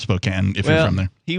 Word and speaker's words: Spokane: the town of spokane even though it's pronounced spokane if you're from there he was there and